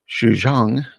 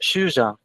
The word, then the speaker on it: Shuxiang: site Honeyfeed, Parable of Shuxiang, Zhang or Zhang? It's pronounced Shuxiang. Shuxiang. Almost the N and G is almost silent. Almost. You can still say it, but Okay. don't stress on it too much.